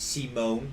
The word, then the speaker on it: Simon: It's pronounced Simone, by the way. Is it pronounced Simone? That's disgusting. I mean, they pronounce it like that, so.